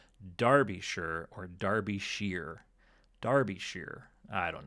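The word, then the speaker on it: Derbyshire: of the Atlantic um the word shire is more like sure or something. So, I thought I was ahead of the ahead of the game saying derbisher, but apparently it's pronounced darbishure or derby.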